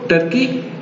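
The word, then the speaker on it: Turkey: हम उर्दू में इसको तुर्की पढ़ते हैं, लेकिन इंग्लिश में इसको टर्की प्रोनाउंस किया जाता है।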